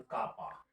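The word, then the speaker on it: κ: बड़ा ही popular Latin name है, also called कापा। इसको कापा से भी हम लोग कई बार प्रोनाउंसिएट करते हैं।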